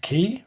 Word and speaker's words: quay: I was going to change the hand it's pronounced key really I'm pretty sure when I read that